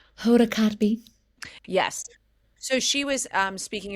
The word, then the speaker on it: Kotb: Cotby. Yeah. Yeah, yeah, say it or say her name. Hoda Kotb.